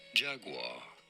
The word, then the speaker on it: Jaguar: We are looking at how to pronounce the name of the animal, both in British English and in American English, as the two pronunciations differ.